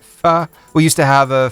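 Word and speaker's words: phở: It's not usually the main event unless we're talking f you know that ph. It's how you spell it, but you say it. Fu.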